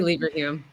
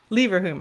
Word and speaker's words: Leverhulme: University of Oxford and deputy director of Oxford Leverhulme, how do you pronounce that? Yeah, I say Leverhulme. Leverhulme, okay, Center for Demographic Studies.